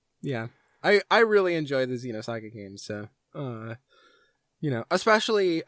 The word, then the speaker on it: Xenosaga: Xenosaga Episode 1, Der Wille zur Macht. Most people say Xenosaga, but otherwise you did great.